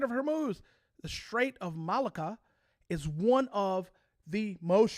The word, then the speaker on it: Malacca: the Strait of, I'm going to butcher this, Malacca, I think is how you say it, Malacca.